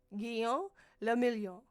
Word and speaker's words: Guillaume le Million: Guillaume le Million. Okay. If it doesn't rhyme, you're not pronouncing it right. Guillaume le Million.